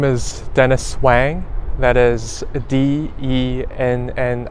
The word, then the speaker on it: Wang: how do you pronounce and spell your name my name is Dennis Wang that is de and and is w ang